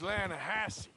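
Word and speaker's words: Lannahechee: Yeah, but it's pronounced Lanahatchee.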